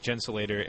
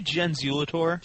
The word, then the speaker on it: Gensulator: And if you're joining us just now, I'm here with Matt East, Gensulator, and is that how you say it? I say Genzulator, but I don't take offense because it's difficult.